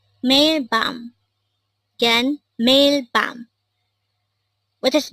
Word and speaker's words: 밤: Again, bam. This is just a one-syllable word and it is pronounced as bam.